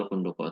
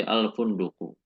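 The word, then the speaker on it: الفندق: Jadi misal ada kata al-funduk. Ini kata al-funduk. Ini kalau tidak ada apa-apanya kita membacanya bukan al-funduki atau al-funduko, tetapi al-funduku. Namun ketika datang huruf ini, huruf ala atau huruf yang misalkan fi, ya, ala, fi.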